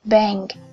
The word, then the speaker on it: bank: Ở đây đọc là monkey hoặc là bank hoặc là English.